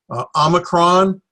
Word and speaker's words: Omicron: screen a little later Omicron this is the short o sound as an off as an omelet the now the boy